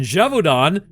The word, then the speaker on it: Gévaudan: In Gévaudan, France, did you like that pronunciation? All right, I'll say it right. In Gévaudan, I know, apparently that's how you say it.